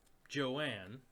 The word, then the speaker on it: Johan: But Joanne is how you say Johan's name, Really?